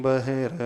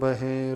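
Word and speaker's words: बहिः: मात्म वे त्यागा दाने बहिर मूढ़ करोत अध्यात्म मात्म वेद नांतर बहे रपा दन नांतर बनम नांतर बहिर उपा दनम बही में ई जो है ह्रस्व है तोसे उच्चारण करना बही नहीं पढ़ना नांतर बहिर पा दनम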